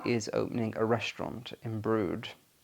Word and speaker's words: Brewood: There's a village hall, but there is another close village called Brood, and it's pronounced Brood, but it's spelled Brewwood, so it looks like Brewood.